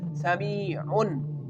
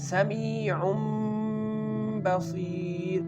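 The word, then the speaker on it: سَمِيعٌ بَصِيرٌ: In some words we can say Sami'un. When we say Sami'un, it will pronounce the Noon sound and the Noon sound will very clear when we say Sami'un. But here, when the Ba is coming after this letter, we can pronounce this word as Sami'um Basir, changing the Noon sound into the Mim sound.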